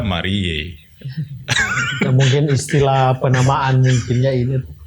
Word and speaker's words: Mariae: tapi kok sering dibilang Maria galio Maria gimana Yang benar sebenarnya itu I Ah yang benar kalau ejaan latin Pur itu itu Marie Legio dibaca Marie mungkin istilah penamaan mungkinnya